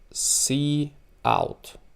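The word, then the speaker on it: cout: character output stream uh it is pronounced C out character output okay uh is an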